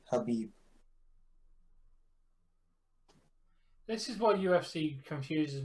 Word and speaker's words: Habib: Yeah, it's so weird how like it's spelled Khabib, but it's Habib.